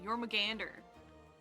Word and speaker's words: Jormungandr: Jormungandr. I always forget there's an R. Jormungandr. There's a D there, sorry. There's an extra syllable is what I mean.